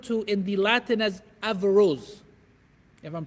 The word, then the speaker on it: Averroes: that is referred to in the Latin as Averroes if I'm pronouncing it correctly Europe Averroes I stand corrected Averell 'yes thank you he is the one who among